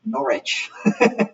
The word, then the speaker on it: Norwich: Yeah, Bear Hugs points out that if Norwich is in the UK, which it is, where Julian lived, then they pronounce it Norwich, which is a pretty great pronunciation.